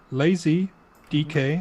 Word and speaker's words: LayZeeDK: So it's lazy DK, and DK is for Denmark.